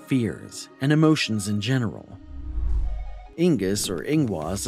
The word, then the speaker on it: Inguz: Inguz, or Ehwaz, is a complex rune, pronounced as a nasal N.